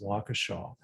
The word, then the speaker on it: Waukesha: i am sending prayers to the victims in waukesha some of you don't know how to pronounce it is pronounced waukesha uh it's kind of near kenosha i don't